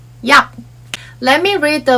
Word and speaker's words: 약: For example, if you pronounce yak using English sound, it would sound like yak or yak. Literally sounds like yak. However, in Korean, we say yak. There's no plosive sound at the end and it's almost silent.